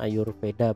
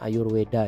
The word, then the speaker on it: Ayurveda: Ya, mungkin kita di Indonesia menyebutnya Ayurveda bacanya ya, tapi kalau mereka kayaknya Ayurveda ya.